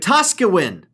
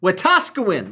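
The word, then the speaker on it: Wetaskiwin: pronounce what what US what Tosca wind wataskawan there we go you finally got it yes there we go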